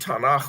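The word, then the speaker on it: Tanakh: I've always wondered about the word tanak with the KH sound at the end but it's so where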